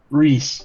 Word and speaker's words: Rhys: Uh, Rys, is it Rys? Reys. Reys. So, it's like pronounced R E S.